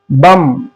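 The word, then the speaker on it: bomb: इसको पढ़ना है बम। इसको पढ़ना है दम। ये था रूल बी। देखा आपने किस तरीके से बी को हमने साइलेंट किया।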